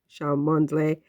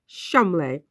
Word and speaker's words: Cholmondeley: One in Norfolk and the Chateau de Cholmondeley. Apparently, you pronounce that Cholmondeley.